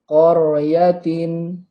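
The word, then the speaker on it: قرية: Yaitu contoh seperti lafad qaryatin, qaryatin. Coba dipraktekkan. 1, 2, 3. Qaryatin. Kor, ya. Jadi tidak boleh membacanya kor, kor, kor. Nah, itu termasuk tarkik nantinya. Tapi kalau tafhim, koryatin, ya, tebal, tafhim.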